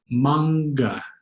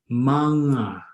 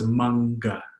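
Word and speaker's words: mangga: word for mango, is manga, manga. Notice that heavy G. If there was no heavy G, it would be manga, manga. But there is a second G, so it's manga, manga.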